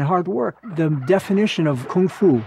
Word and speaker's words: kung fu: The definition of kung fu, or gung fu, as Bruce Lee pronounced it, a lot of people think that's just meaning martial art.